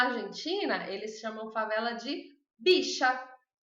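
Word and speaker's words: villa: Então, na Argentina, eles chamam favela de bicha, porque o V pronuncia como B, bi, e o 2 L's pronuncia como sh, bicha.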